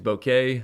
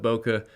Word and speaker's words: bokeh: quickly I know that the proper way to say bokeh I think is bouquet but I've always called it bokeh so it's gonna be